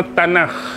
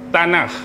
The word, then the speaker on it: Tanakh: Baik, secara umum kitab Taurat ni selalu diberikan dengan nama Tanakh. Pernah dengar perkataan tanak? Pernah dengar tak? Pernah. Ejaan dia T A N A K H T A N A K H tanah.